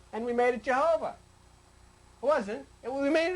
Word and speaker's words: Jehovah: And this I in Latin is pronounced J. So it became JHVH. And we made it Jehovah.